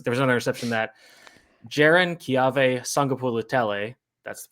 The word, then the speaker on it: Jaron-Keawe Sagapolutele: And the third was, there was another interception that Jaron-Keawe Sagapolutele, that's the pronunciation for all of you people out there,